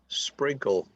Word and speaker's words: sprinkle: rain a sprinkle sprinkle don't pronounce the e a sprinkle is just